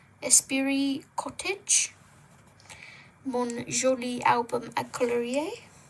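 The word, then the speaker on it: esprit: Leip de lev 24 colorage mister by florine lar by the same illustrator we have espiri spirit I don't think you pronounce the t espiri cottage monolie album a colorier and Again, really thick paper.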